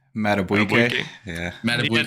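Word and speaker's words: Madubuike: Matabuike.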